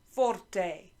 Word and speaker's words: forte: them first of all can you say forte forte it means loud loud is forte say that